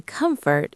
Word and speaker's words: comfort: The T in comfort is soft. It sounds like comfort food.